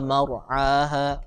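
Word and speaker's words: مَرْعَاهَا: Kemudian satu lagi catatan Ustadz, ro sukun kalau sebelumnya itu fathah, coba ditebalkan ya. Akhraja minha ma'aha wa mar'aha wa mar.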